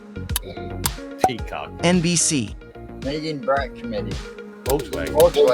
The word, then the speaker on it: Volkswagen: Volkswagen. It's actually pronounced Volkswagen.